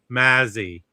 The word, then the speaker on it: Mazzy: Hey, it's pronounced Mazzy, not.